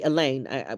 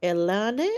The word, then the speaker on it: Elaine: and then see me I've had some reactions where they then mispronounce the Elaine to like Elan or um right I've been asked what's your oh that's your English name.